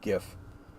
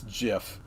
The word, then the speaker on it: GIF: dead L long liveed GIF so I know that's a contention among a lot of people yeah it's JF yeah got bomb no it's not it's GIF it's a hard G hard G forever so anyway um so